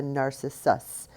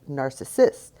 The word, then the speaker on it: narcissus: to say that because if you say it really fast, it sounds like narcissist, but you've got to pronounce the that last syllable with the s instead of the is.